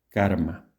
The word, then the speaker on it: karma: En sánscrito sería más o menos similar. Karma.